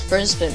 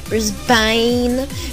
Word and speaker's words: Brisbane: you Americans are so strange right so you pronounce all right so you guys all know that my hometown is Brisbane right right it's not Brisbane or bris Bean